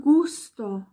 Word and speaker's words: gusto: noch eine Regel nämlich ein G das nicht vor einem E oder i steht sondern vor allem anderen nämlich wieder vor oder Konsonant wird wie ein G ausgesprochen nämlich wieder Städtchen Padenghe oder im Gegensatz zu juicester wo eben noch das E dazwischen war gay und e fehlt hier das i das heißt dann Gusto il gusto der Geschmack Gusto ja